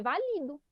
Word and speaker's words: valido: Quando tiver acento, vai ser a sílaba que tem acento, que é a mais forte. Certo? Aqui em cima a gente não tinha acento, então a gente não pode ler válido, a gente lê valido.